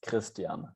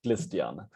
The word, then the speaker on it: Christian: so there is an r involved the german pronunciation is christian and chinese people indeed oh you can wait